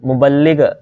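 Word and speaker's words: مبلغ: उसके बाद है मुबल्लग, मुबल्लिग ये लफ्ज़ है, ठीक है ये सही वाला ये प्रोनाउंसिएशन है इसकी मुबल्लग, ठीक है जी।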